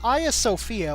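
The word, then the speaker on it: Hagia Sophia: that one uh the a Sophia which is how that's pronounced by the way I know it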